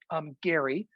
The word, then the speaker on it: Gerry: that's actually it's actually gary it's pronounced the hard g um so uh occasionally